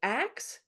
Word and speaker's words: ask: older form and so the switching of the K and the S which linguists call metathesis is from axe to ask and axe was actually a high form choser uses axe as